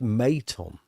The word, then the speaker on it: Maton: Pronounced Maton.